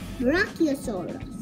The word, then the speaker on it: Brachiosaurus: Hey guys, so today we are continuing with our dinosaur pronunciation. Zebra, he, o, saw, us. Brachiosaurus.